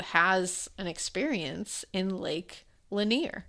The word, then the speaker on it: Lanier: from someone who has an experience in Lake Lanier.